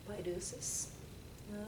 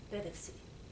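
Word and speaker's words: Paideusis: In English, it is pronounced Paidusis. The Greek pronunciation would be something like Pedevsi. I consulted a Greek friend of mine, so I may not be pronouncing it completely correctly, but that's what I'm saying, closer to.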